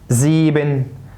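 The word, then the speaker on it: sieben: طيب الاي اي تنطق اي مكسوره، زي كلمه زي، زيبن، ليبن.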